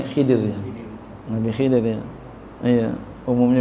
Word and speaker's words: Khidr: setelahnya setelah diajarkan itual KH ini bacanya Boleh khir boleh bacanya khidra khidrun Boleh bacanya khadrun Ya secah kita kita biasa bilangnya Khidir Nabi Khidir ya Iya